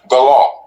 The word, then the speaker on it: Gullah: So, Gullah, the proper way to pronounce Gullah is Galah. Galah, okay. It's like saying the law or my law in ancient Hebrew.